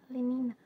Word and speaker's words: Lenina: Lenina, acho que é assim, Lenina, eh, que se pronuncia, tá, gente?